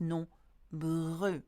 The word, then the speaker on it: nombreux: E-U-X is pronounced nombreux. Okay, E sound. You do not pronounce the X at the end.